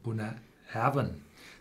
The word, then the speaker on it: Bunnahabhain: And if you see those Gaelic names like Auchentoshan, Tullibardine, Bunnahabhain, they are all pronounced on the second syllable.